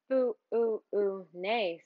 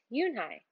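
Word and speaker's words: Unhei: uni the girl asked scrunching up her face o ooh oo nay some kids chanted no noai said it's spelled you n he e i it's pronounced Yuni oh it's Yun the boy said like you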